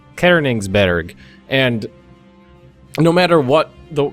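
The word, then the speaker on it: Königsberg: accents and pronouncing it like a an American and just going Coigsberg. And then somebody uh pointed out the umlout and I was like, "Okay, Kerningsburg." And then they're like, "No, you got to pronounce Berg bear." And I was like, "Okay, Kerningsburg." And then somebody else would like, "No, that's not right either. It's you you got to give the the first syllable uh a little inflection, too." So, it's Kerningberg.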